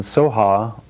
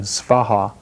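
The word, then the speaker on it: svāhā: And ye is just a grammatical expression, and soha, or in the Sanskrit pronunciation svaha, is just means so be it, or let it happen.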